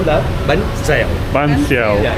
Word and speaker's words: bánh xèo: And do you also want the bánh xèo?